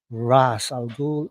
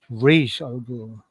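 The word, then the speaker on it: Ra's al Ghul: Jason this is cool you pronounce uh Ras alul uh two different ways of course Ras alul and uh R Alo it was never resolved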